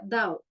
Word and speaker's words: Tao: Parece que la T se pronuncia siempre Du, por eso el Tao se pronuncia Dao y Tui se pronuncia Dui.